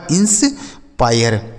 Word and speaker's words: inspire: यह लिखा है आपका इंस पायर। ठीक है, MIRE यह लिखा गया है मायर। तो आई के बाद अगर RE हो तो आई का उच्चारण आय हो जाता है, जैसे fire, higher, wire, tyre, इंस्पायर, मायर।